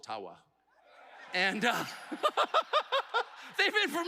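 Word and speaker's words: Ottawa: but thank you and I I called it atawa many many times and I would get these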